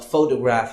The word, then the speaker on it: photograph: So like in this example, you see when you say photograph, you stress on pho and not the other syllables like toe and graph.